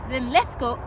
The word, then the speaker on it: Linlithgow: We're here in Linlithgow, I'm saying it correctly.